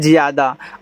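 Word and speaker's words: Jyada: ए को साइलेंट रखना जे वाई ए डी ए इसे पढ़ते हैं ज्यादा अब देखो जे के बाद वाई आ गया तो वाई जिसके तुरंत बाद आता है उसको आधा बनाता है तो जे के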